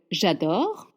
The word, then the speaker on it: j'adore: make the mouth L j'adore de Dior. J'adore. J'adoreadore. J in French makes je not je je means adore. or j'adore mouth is open. Au revoir. J'adore au revoir or.